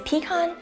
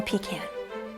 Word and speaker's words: pecan: course they become pie is a pecan or pecan if I know either way people are going to judge you for how you say it now if you